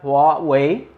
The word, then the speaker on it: Huawei: the away nova 3 it's a phone by wat way i practice that so i'm sure i'm saying